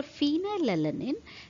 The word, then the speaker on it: phenylalanine: you remember so for phenylalanine its pronunciation it is far right phenylalanine so it sounds far hence f is the